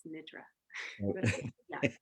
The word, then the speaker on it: Nidra: I say Nidra, but I think correctly it's Nidra.